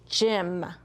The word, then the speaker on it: gym: And in this case, Y is going to make the ih sound. So juh, ih, mm. Gym.